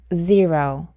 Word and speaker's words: zero: 왜냐하면 이 단어는 제로가 아니라 zero, zero 이렇게 소리가 나기 때문입니다. 이 단어의 첫 번째 음절을 제라고 읽으시면 안 돼요. 이 첫 번째 음절은 zero, zero 귀라는 뜻인 ear에 z가 붙었다고 보시면 돼요.